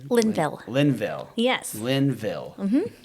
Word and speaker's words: Linville: and how do you say your last name Linville Linville yes Linville like yeah okay all right